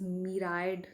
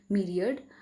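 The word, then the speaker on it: myriad: सो दोस्तों, आप अगर कभी मीरियड वर्ड को देखते हैं तो आप इसे प्लीज़ मीराइड या माइरियड ऐसे करके प्रोनाउंसिएट मत करिएगा। इसका सही प्रोनाउंसिएशन है मीरियड, which means a countless number.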